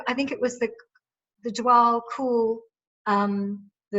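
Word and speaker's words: Djwal Khul: was, and also I think it was the Dwal Cool, I'm not pronouncing the name. Dwakul.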